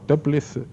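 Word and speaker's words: Toeplitz: en la historia con las estudios se llama teplice es escrito enrabietada mente como todo el lítex no incide pero se pronuncia simplemente tranquiliza y tiene muchas propiedades por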